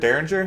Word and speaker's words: Derringer: Derringer.